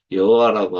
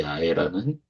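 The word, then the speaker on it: 야훼: 밖에 있는 이야기데 어 근본적으로 접근했을 때 저는 여호와라고 하는 그런 어 발음보다는이 아이라고 하는 발음이 더 정확하다라는 입장입니다.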